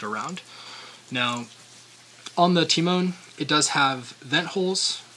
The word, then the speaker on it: Temon: And pronunciation-wise, little thing, most of us would say Timon, like Timon and Pumbaa, but in Greek, I guess the translation, it does mean, or it's pronounced Temon, so an emphasis on the E, and it means mine in Greek.